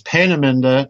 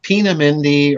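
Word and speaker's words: Peenemünde: all right right and please note the pronunciation everybody it's panaminda not pinamindi or you know I hear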